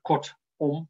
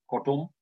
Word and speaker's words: kortom: Of kortom is een mooi voorbeeld. Ik zeg nooit kortom, maar kortom.